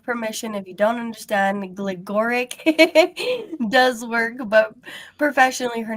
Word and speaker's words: Gligoric: Gleoric does work but professionally her name is Jennifer Gleoric is how it is pronounced.